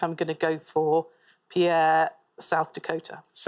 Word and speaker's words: Pierre: But I think I think the Americans don't pronounce it. Pierre.